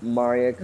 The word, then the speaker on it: Maria Kari: New Media and today we have with us Maria Ki not Mariah carry in case you're wondering um I always keep getting it wrong myself right did I pronounce it correctly no you got it right Maria Ki okay so Maria Ki not Mariah Cary and